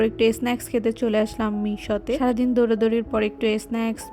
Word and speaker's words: Mixue: snacks খেতে চলে আসলাম মিশোতে সারাদিন দৌড়াদৌড়ির পর একটু স্ন্যাক্স বা ঠান্ডা কিছু না খেলে একদমই হচ্ছে না প্রথমে এসেই তো আমি এটা প্রোনাউন্সিয়েশন করতেছিলাম মিক্সজুই মিক্সজুই দেন দেখলাম it's right pronunciation is Meesho pronunciation বাদ দিয়ে মেইন